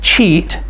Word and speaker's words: cheat: thanks, thanks, ea in cheat, c-h-e-a-t, are vowels that work together to make the long e sound. So in cheat, a is silent. Cheat. E-A work together to make the long E sound.